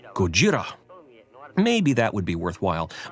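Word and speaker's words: ゴジラ: and they pronounce it Gojira which is also wrong it's just a different wrong if we were proper and careful about getting the inflection right Gojira maybe that would be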